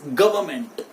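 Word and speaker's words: government: लेकिन लेट me tell you my dear friends, ये जो एन है ये यहां पे साइलेंट होगा। सो the right pronunciation for this word is गवर्नमेंट। इट इज गवर्नमेंट, गवर्नमेंट।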